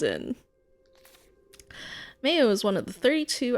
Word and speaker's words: Mayo: The name is from the Irish pronunciation Mayo, much like the condiment.